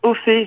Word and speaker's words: Ofee: Alors en fait, je t'avoue que ça se prononce Ophi. J'ai enlevé l'accent parce que quand j'ai choisi mon nom de scène, j'habite en Angleterre et je sais pas si tu sais, mais les anglophones n'ont pas d'accent, ne connaissent pas vraiment l'utilisation des accents.